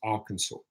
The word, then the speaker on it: Arkansas: and then it did me like dude it's Arkansas so pronouncation I go to work on that a